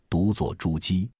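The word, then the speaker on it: 者旨: The so-called "Zhe Zhi" is actually the surname of the King of Yue pronounced as "Zhuji".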